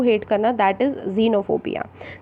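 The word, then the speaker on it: xenophobia: जीनोफोबिया, the correct pronunciation is जीनोफोबिया।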